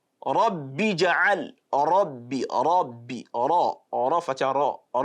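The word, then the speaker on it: ربي: If the letter ra is carrying fatha or dhamma, it has to be tafkhim. It has to be a full mouth pronunciation. Rabbi ja'al, Rabbi, ra, fatha ra.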